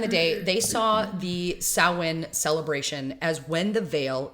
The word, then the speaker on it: Samhain: Uh because I'll be honest, when I first saw it's spelled S A M H A I N. Yeah. Sam Hayne.